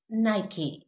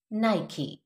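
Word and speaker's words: Nike: I will just speak the accurate pronunciation, जो ठीक है वो ही बोलूंगी thrice, so be very careful. नाइकी, नाइकी.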